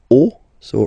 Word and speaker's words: os: then it will be, the rule is that you get to put X here at the end, but then same rule, you don't pronounce it.